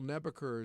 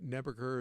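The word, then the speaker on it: Nabeker: And if you are new to the area and Bill Nebucher is not a name that you're familiar with, I would invite you to Google it or do whatever. Nebur is spelled just like it sounds.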